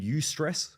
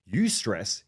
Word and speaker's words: eustress: There's one called eustress, which is spelled E-U and then stress, or distress, called D-I-S, stress.